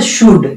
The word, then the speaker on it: should: इस तरह से शुड, इसमें भी एल साइलेंट है।